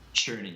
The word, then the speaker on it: Cherney: Cherney, right? That's how you pronounce it? Cherney, yes. Cherney, all right.